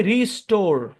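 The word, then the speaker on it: restore: ও থাকলে ওটা ও কারে সাউন্ড দিবে, আর ইটা সাইলেন্ট।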